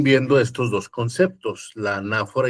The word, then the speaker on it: anáfora: tienen usos distintos la anáfora y la catáfora. Anáfora y catáfora. Anáfora con acento en la A.